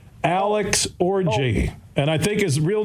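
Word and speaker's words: Orji: like it's Alex it's not Kyle it's Alex orgy and I think his real name no I'm looking at the annunciations and pronunciation guide for Michigan football it's Ojai oh that well that's a French word to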